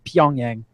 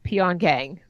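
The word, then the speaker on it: Pyongyang: Festival it's a filmsite proun it's pongyang I I'd rather say it's peon gang because I'm not Korean and I can't pronounce go for this not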